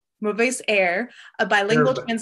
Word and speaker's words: Mauvaises Herbes: Will you pronounce that for me? Mauvaises Herbes. Mauvaises Herbes, a bilingual translation.